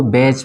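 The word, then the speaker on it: badge: उसी तरह इसको बैच पढ़ेंगे, ठीक है ना, ये डी साइलेंट हो जाएगा।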